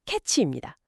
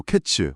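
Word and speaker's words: קֵץ: 네, 근데 끝이나 종말을 뜻하는 단어는 캐치입니다. 카이츠 그리고 캐츠.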